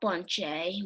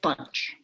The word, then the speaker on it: Bunche: It's not Bunche because we can't pronounce it, but we call it Bunche.